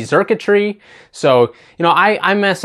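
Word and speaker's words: Xurkitree: This card I just pulled the other day, I think I pronounced it Zerktree, and it's really Zerkatree.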